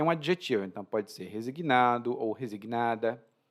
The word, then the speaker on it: resignado: um então pode ser resignado ou resignada E você tá percebendo a minha pronúncia aí eu falo resignado algumas pessoas em outros países vão dizer resignado especialmente os portugueses né mas